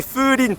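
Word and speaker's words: 風鈴: Attention à bien le prononcer Fulin parce que sinon ça veut dire adultère en japonais.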